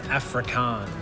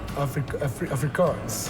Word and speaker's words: Afrikaans: So what is an Afrikaan? Afrikaans. Afrikaans. I was got an S on the end.